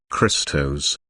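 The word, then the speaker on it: Χριστός: from the Greek word Christos meaning the anointed this can be translated as the Messiah phonetically the Greek word sounds like the word Crystal this is referring to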